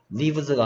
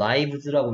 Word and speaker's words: lives: 그 다음에 얘는 lives가 아니고 lives라고 읽어야죠. 됐습니까?